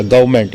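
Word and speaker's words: government: गवर्नमेंट का मतलब सरकार ये देखिए आर इसमें साइलेंट हो गया गवर्नमेंट गवर्नमेंट का मतलब सरकार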